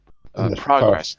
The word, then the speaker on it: progress: progress progress right and now is the verb to progress to progress right so as a verb it's on the second syllable okay uh it was